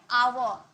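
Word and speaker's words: hour: एच चुप रहता है। बोलता नहीं है। आवर आ का साउंड आता है।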